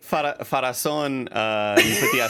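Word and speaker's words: Pharazôn: Farazan, you put the acento at the final syllable.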